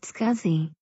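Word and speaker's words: SCSI: small computer system interface scuzzy is pronounced scuzzy this entered was designed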